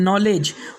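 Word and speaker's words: knowledge: इसके बाद का नेक्स्ट रूल है, जब के बाद एन आ जाए तो के साइलेंट होगा। जैसे कि KNOW नो, इसके बाद में है नॉलेज, उसके बाद में है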